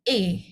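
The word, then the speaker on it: 에: Bukan OI, sekali lagi bukan OI, tapi E. Oke. Walaupun ini tulisannya sedikit mirip gitu ya dengan OI. Oke, tapi ini dibacanya E ya.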